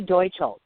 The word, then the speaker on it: Deutschle: a tricky one too yep Deutsch so if you think of Germany's Deutschland Deutch how you say it got it okay got it so the lovely Katie docho and just you know